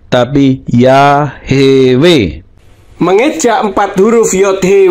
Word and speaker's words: Yahweh: ini secara Tata tulis Ibrani tidak mungkin Dibaca yahwe tapi ya hewe mengeja empat huruf Yod he W He kok